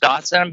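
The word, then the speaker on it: dachshund: that's funny because yeah they're do is it doson those dogs because there's it's pronounced Dawson but it's spelled like uh Das H right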